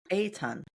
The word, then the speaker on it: Eitan: And you and and I want to make sure I'm pronouncing your name correctly. Eton. There you go. Eton.